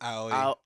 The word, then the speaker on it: Aoi: Uh I don't know how to say her name is Aoi. I think it's Owie. Owie. Yeah. Okay. So, Owie, she plays